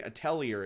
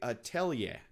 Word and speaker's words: Atelier: I was pronouncing Atelier at first, but then I was corrected. It's actually Atelier. Atelier Ryzen.